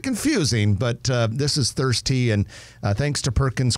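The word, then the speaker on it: Thirstea: here's the tricky thing it's spelled ta h i r s t e a all one word thirsty one word it is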